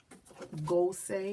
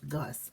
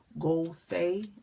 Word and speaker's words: Gusé: her name okay so to me it looked like it said Gus I had read over how to comment in the comment section that was saying her name was go say Oh goo say I believe so I believe is Carly Lane go say all right now like